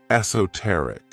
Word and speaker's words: esoteric: The next word, which is another one of my favorite adjectives, is esoteric. This word has 4 syllables, and the stress is on that third syllable.